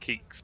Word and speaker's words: Keeks: Yeah, so it's pronounced Keeks, but a lot of people pronounce it all sorts of ways. is the common go-to because I think people don't know how to say it.